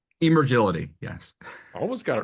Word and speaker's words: Emergility: What is E- the correct pronunciation? Emergility, yes.